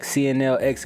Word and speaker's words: CNLX: But anyway, welcome back, CNLX Gaming, where the X is silent.